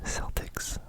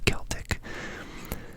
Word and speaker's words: Celtics: Technically, their name if you're if you're trying to pronounce it properly, it should be Celtic because um you know, the the olden people back in the British Isles um they're called the Celts. So, if you're pronouncing the name properly, it should be the Boston Celtics, but alas, we call them the Celtics.